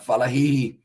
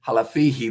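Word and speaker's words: Halafihi: italy it's all improvement falahi that's not his name halafi that is the pronunciation i got the hehe round the wrong way i sound like michael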